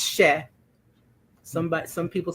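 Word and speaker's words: cher: So the first word is c h e r she and it is just a term of endearment just means sweetie or dear heart or my darling one. It's she somebody some people say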